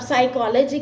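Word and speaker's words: psychology: 10 में से एक बार नहीं चलता अब साइकोलॉजी के लिए आप एस नहीं लिखोगे साइकोलॉजी starts with P एंड पी is silent next is disgusted T आई एस टी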